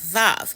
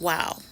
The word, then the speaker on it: vav: like the Y and it's pronounced VAV it it's also pronounced wow now and they say it